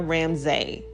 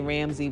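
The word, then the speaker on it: Ramsay: last name so um it's ramse but anyway I don't mind if you say ramsy but my name is R MSA I not e but anyway you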